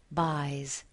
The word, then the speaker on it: buys: The S, the final S in these words is pronounced as a Z. Pays, buys.